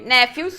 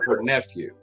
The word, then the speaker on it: nephew: not what she meant nephew so it's a it's a pronunciation issue the P and the H and nephew makes a very specific sound it makes it kind of that F sound nephew I would just